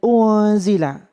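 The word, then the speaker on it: أُنْزِلَ: Kemudian unzila, ada nun sukun bertemu za, itu dinamakan bacaan ikhfa. Cara membacanya dengan didengung 3 ketukan.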